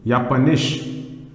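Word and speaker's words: Japanisch: german is pronounced as why in german is pronounced as here okay so this is japan japan means japan language is spoken is yapanish yapanesh that means japanese now this is united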